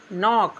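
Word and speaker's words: knock: एन से पहले के आएगा तो के साइलेंट रहता है। एग्जांपल में के एन ओ सी के नॉक।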